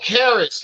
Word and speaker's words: Caris: And like I said, um Oh, Caris, like Paris.